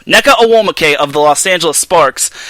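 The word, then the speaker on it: Nneka Ogwumike: not only is he neko oh mo i'm gonna pronounce i'm gonna pronounce this net right necker or wall muke or will mckay neca awomacay there we go neca awomacay of the los angeles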